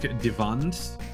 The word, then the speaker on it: Divan: Like apparently Divan is supposed to be like Divand, based on like a German word for wall.